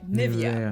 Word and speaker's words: Nivea: Next up we have a brand that you guys might have in your bathrooms and that is Nivea or in the US I think most people say Nivea.